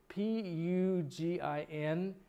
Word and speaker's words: Pugin: This is a plate by, I can't pronounce the guy's name, but Tom will correct me, Tom. P-U-G-I-N.